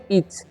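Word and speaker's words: each: ई ए सी एच इसे पढ़ेंगे हम लोग इच ठीक है अब हम इन सभी का मीनिंग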